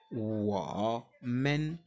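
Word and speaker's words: 我们: on va dire men W men W men W men W men le MEN se prononce à peine ce n'est pas ça il n'y a pas de temps hein c'est le temps neutre W men W Men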